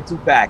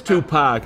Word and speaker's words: Tupac: see anyway he wanted me to see a two-pack no it is tupac all right i always post people when that